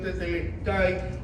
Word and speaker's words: tetelestai: Es una palabra en griego que se pronuncia literalmente como está en español, es la transliteración tetelestai, o tu deuda ha sido pagada.